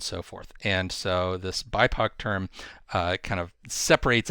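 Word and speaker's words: BIPOC: where uh it's uh b or pronounced bipo uh which stands for black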